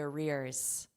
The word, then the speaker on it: arrears: Although WHO lawyers suggest the US is obliged to pay the arrears. The arrears. So here we have rear. So the pronunciation, we have ear, rear, and just ignore this other R, basically, arrear, rear.